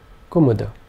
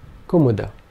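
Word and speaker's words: कुमुद: this would be pronounced kumuda all three vowel sounds being short kumuda kumuda is a kind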